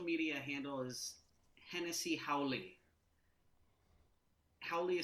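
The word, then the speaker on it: haole: Hennessy you first well my website is hennessy.nyc spelled like the Cognac and uh and my my social media handle is Hennessy howling how Leah spelled h-a-o-l-e and it is slang for a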